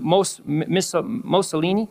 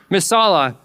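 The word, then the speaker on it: Missoula: No, not Missolini. Missala, Montana. I tried to pronounce it. I was like, Lord, don't let me say Mussolini. And I did it. I said it. Oh, see? We need to be more connected. Missala. Missala, Montana. I'm still probably saying it wrong.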